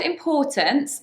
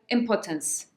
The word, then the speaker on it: importance: So the word importance is an or. Importance. The stress is on the second syllable.